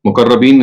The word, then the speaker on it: مقربین: مقربین جو ہیں، مقربین اس کا صحیح تلفظ ہے، یہ تو سابقون کی کیٹیگری کے لوگ ہیں.